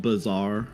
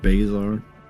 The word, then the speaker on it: Bazar: on let's go uh it's pronounced bizar yeah you said basar I was being a